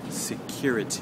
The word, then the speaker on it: security: Now let's talk about security. Okay, so as you can hear, hopefully, the stress now is on the second syllable, the cure part.